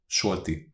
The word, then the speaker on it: Solti: Because Solti. Solti. No, not shorty, like short. Sol with L. Solti.